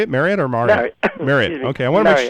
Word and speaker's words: Marriott: Marriott.